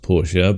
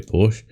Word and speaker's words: Porsche: Porsche or Porsche um it should be pronounced Porsche but most English people say Porsche have a BMW uh